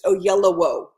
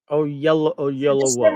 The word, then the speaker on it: Oyelowo: So it's Oyelowo. Oyelowo. Okay. It's yellow between two O's.